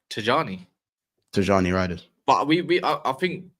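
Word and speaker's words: Tijjani: Tijani first name's Nigerian, so the J is pronounced Tijani. Tijani Riders. But I think that's put it onto the onto where you can pronounce names and it says it's Tiani.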